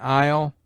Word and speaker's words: isle: S is mute in isle, island, domain, viscount.